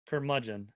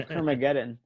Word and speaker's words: Curmudgeon: Curmudgeon. Curmudgeon. Okay. Yeah. Thank God you said it because I was about to say Kermageddon.